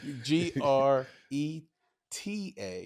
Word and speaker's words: Greta: Um one t g r e ta not tta.